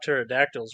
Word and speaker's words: pterodactyls: Well, you know what they say about pterodactyls, right? No. You can't hear them going to the bathroom because the P is silent.